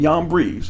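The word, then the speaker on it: Jambres: Now, as Yanes and Yambres, and yes, that's how it is actually pronounced, withstood Moses, so do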